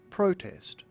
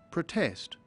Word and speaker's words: protest: There are two ways of pronouncing this word, depending on whether it is a noun or a verb. Protest camp is a compound noun and it's pronounced protest.